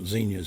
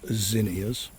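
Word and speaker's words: zinnias: I'm pronouncing it's not Zenyas, it's Zenas.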